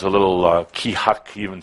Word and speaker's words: Keahak: It is pronounced Keahak. Keahak. That sound fun? You can say it. Keahak. Yeah. Kind of like saying shit.